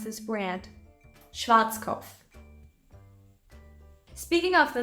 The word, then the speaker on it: Schwarzkopf: explain it to you when an S C and H stand together they create a new sound sh sh and we already